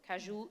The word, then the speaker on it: caju: Caju trees, that's how you say it, are sort of very common in Brazil.